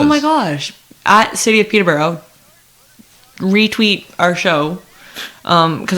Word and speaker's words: Peterborough: think peterborough is great i know it's pronounced peterborough peterborough but i i developed the speech thing in which i anything that ends in o automatically gets changed to an uh so it's colorada toronto peterborough you get the idea